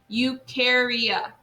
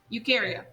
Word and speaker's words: eukarya: how to say it eukarya eukarya okay so you don't even say that e you say you care eff all right so you